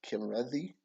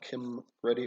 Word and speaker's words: Kimrethi: It is pronounced Kimrethi. Kimreth. So not Kim Ready or not Sim Ready.